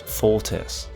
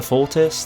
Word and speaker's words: Fortis: And uh the scorpion is likely pronounced fortis by the way, like the Latin word for strong.